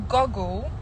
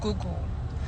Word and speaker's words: Google: I used to say goggle, right? I say goggle instead of Google, and that was a pet peeve for my roomie in the university.